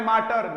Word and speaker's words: mater: I have started teaching at my Elma माटर। मैटर मत बोलना, मैटर होते ही तो ये वाला स्पेलिंग आएगा। MATER ये माटर है और MATTER, दोनों वर्ड को अच्छे से देखिएगा, दोनों में क्या अंतर है।